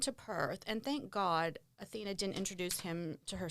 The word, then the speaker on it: Awhina: And plus, you keep calling her Athena, but it is Athena. But I don't don't blame you because it's spelled A W H I N A.